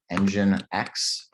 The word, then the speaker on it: nginx: So I know this is spelled really strangely. It's pronounced Nginx.